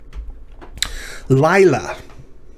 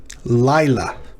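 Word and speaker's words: לילה: meet meet laila laila well the llamad with the patach is followed by a yod with a shava so this is the diphthong i um that shava closes the syllable so lie and then la lai la two syllables well the lamed with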